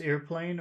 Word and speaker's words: airplane: just airplane okay so in that word airplane which part should we focus on here air air air how how many sounds in the beginning air how many sounds are there three air well how many vowel sounds a two two okay so it's not just a it's two sounds air air air airplane airplane